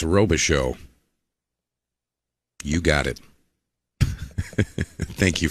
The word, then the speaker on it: Robichaud: See the comment section correcting my pronunciation of Jason's last name. They say it's Robichaud.